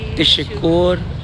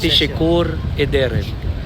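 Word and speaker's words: teşekkür ederim: So para siyang tisikur pero actually it is pronounced as tishikur edderem. Oo. Thank you. Tishikur edderem.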